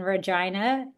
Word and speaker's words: Regina: We we filmed predominantly in Regina in Canada, which is hilarious because it rhymes with vagina.